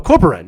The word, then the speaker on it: Corporan: Think of it as like Corporal or Ren. Corp or Ren. Oh, Corporan.